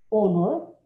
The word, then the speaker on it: honor: Es air, honor, an or. Entonces no hay sonido de J, entonces por eso va el an, para que sea an ear, an honor, an hour, an hour, an hour.